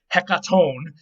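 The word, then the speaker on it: ἑκατόν: track all right so the greek word for 100 is hecaton and the accent or stress is on the last syllable which is exactly where we've been saying but there's something weird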